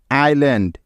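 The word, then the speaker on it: island: করে শব্দগুলোকে নিয়মটা হলো এস এর আগে আই এবং এস এর পরে এল থাকলে ওই এস এর কোন উচ্চারণ হয় না অর্থাৎ এস এর আগে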